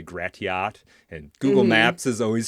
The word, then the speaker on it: Gratiot: And we have streets like uh Grashit, but the way it's spelled people say Gratiot and Google Maps is always screwing these up.